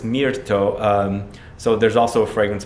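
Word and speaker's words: mirto: if you don't know Myrtle flower in Italian it's Mir to toe so there's also a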